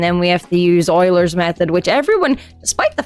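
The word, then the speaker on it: Euler: have to do differentiation and integration and um Oilers's method and the rungaca method for solving differential equations. s to solve first and second order differential equations like properly and then we have to use Oilers's method which everyone despite the fact that Shane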